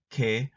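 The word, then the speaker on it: 개: They are romanized as e and a, respectively, but there's no pronunciation difference when you're speaking. Historically, they were pronounced differently, but if you ask a modern Korean, they will not make a distinction.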